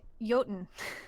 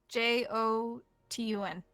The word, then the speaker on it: Jotun: Uh Jotun. Okay, how do you pronounce that or how do you spell that? J O T U N.